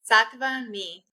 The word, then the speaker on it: SattvaMe: SattvaMe.